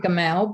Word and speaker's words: Gamal: I pronounce it Gamal, but.